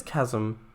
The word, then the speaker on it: chasm: claiming it though i always thought it was pronounced chasm well the thing is i think it's chasm i'll look it up sure we're looking at things all the time so it should be pronunciation of it which if i look it up in the dictionary there we go it is chasm that's strange it has um but why is chase chase but chasm isn't chasm interesting right